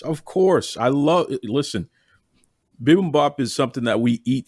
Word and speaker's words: bibimbap: but isn't uh am i saying this right bibimbap yes of course i love listen bibimbap is something that we eat here and and